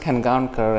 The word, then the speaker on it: Khangaonkar: And I won't blame you guys if you don't pronounce it exactly right, but it's pronounced Khangaonkar, and he was very close.